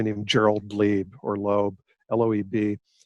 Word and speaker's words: Loeb: Gerald Lieb, or Loeb, Loeb. I say Lieb because we had a neighbor, and that's how he pronounced it, but most people would say Loeb, Loeb.